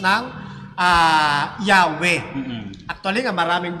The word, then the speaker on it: Yahweh: Kaya nabibigkas ngayon nila yung pangalan ng ating Panginoon na nasa Yod, Hey, Waw, Hey, na sa halip na Yahweh ay Jahwe. Jahwe.